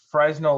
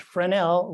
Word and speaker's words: Fresnel: as kay to the fresno lens collection at the training center yorktown um yes the training center in yorktown where they teach aids to navigation has a really good collection of actually pronounced fresnel lenses i think they